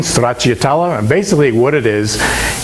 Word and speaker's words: stracciatella: Secondly, after that, we're going to do a stracciatella, and that's the correct pronunciation in Italian, stracciatella.